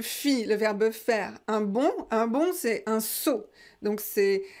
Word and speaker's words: bond: C'est vraiment synonyme, mais voilà, quelquefois on utilise sauter et là on utilise bondir. Donc je fis un bond. Prononcez pas le D final, ne prononcez pas le D final.